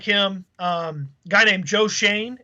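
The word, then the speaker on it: Joe Schoen: you know I like him um guy named Joe Shane it's spelled Sheen but it's Joe Shane is how you pronounce it I think it's s c h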